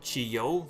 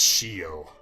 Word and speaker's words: Shio: So, Brett, I bet you can't guess how to pronounce this design's name. Chiyo? It's Shio.